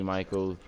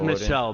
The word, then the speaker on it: Michel: of the Year you got Lynch got Sonny Michaels Hines the rookie from from the cold it's pronounced Michele by the way okay Michelle no no you